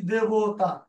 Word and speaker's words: দেবতা: আমরা বলি দেবতা। এই যে দে একার, এই একারের উচ্চারণ কিন্তু এই জায়গায় ঠিক আছে, অর্থাৎ তৎসম শব্দে এই ধ্বনির উচ্চারণ অবিকৃত থাকে, এইটাকে আপনি বদলাতে পারবেন না।